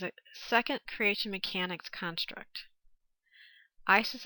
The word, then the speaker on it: Isis: Isis of ancient Greek, original Egyptian pronunciation, more likely Aset or Iset, is a goddess in ancient Egyptian religious beliefs whose worship spread throughout the Greco-Roman world.